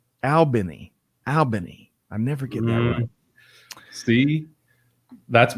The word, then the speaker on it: Albany: Scott and thank you good morning Gary it's pronounced aliny Albany I never get see that's part of the